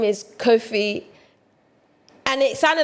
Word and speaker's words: Kofi: Kofi Annan I can't even say So, your name is Kofi.